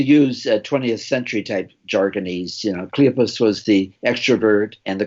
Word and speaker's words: Cleopas: conversation between Jesus and, do you pronounce it Cleopas? Cleopas. Cleopas. Like the accent is on according to the booklet here, it's accent on the first syllable, Cleopas.